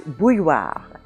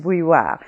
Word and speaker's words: bouilloire: Now this word has that combination of letters I-L-L, which we have seen in many of the words of this series, and that combination of letters I-L-L or I-L-L-E normally in French gives the sound y.